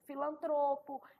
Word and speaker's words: filantropo: relação à sílaba tônica filantropo é uma palavra paroxítona misantropo palavra paroxítona interin